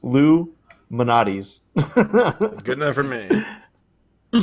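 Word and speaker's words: Lou Malnati's: Lou Malnatus. But I'm pretty sure it's pronounced Lou Manatis.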